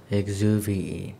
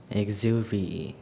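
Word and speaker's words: exuviae: The biologist had a small collection of exuvii, and the most interesting was a very long snake skin remnant. Exuvii. Exuvii. Am I pronouncing that correctly? Perfectly. Exuvii.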